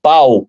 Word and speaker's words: Pau: numa cidade que eu pesquisei tudo que chama-se se escreve pau pau p a ou pau mas le pô